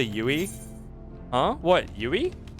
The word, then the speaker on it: UI: say yui huh what yui that's how you say it I mean I mean you could say UI you can also say UI UI I mean that's fine too but that's that's the actual acronym okay how do you